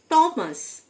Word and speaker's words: Thomas: টমাস, THOMAS, টি এর পরে এইচ লেটারটি silent, উচ্চারণ হবে না। টমাস এটি একটি নাম।